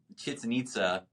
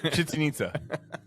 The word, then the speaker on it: Chichen Itza: For me, where it really hit me, I was in Chichen Itza, and somebody was checking a car out, and